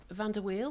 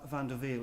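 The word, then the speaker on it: van der Wiel: were talking about the pronunciation of your surname van der wheel which could also be which could also be van der veal if you're in amsterdam but my uh my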